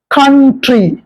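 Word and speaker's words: country: அ sound வரும் சி ஓ என் டிஆர் ஒய் கண்ட்ரி ஆனால் இந்த ஆர் இல்லாமல் ஒரு சொல் இருக்கிறது சி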